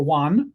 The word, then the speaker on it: yuan: Yuan is the Chinese currency, or yuan, I guess, depending how you want to say it.